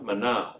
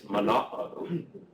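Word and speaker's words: Manaò: So the first word you don't pronounce as though it's a diphthong like manao, it is manao.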